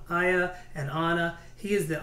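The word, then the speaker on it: Aiah: the sons of zivian ahaya i mispronounced that one aya and anna he is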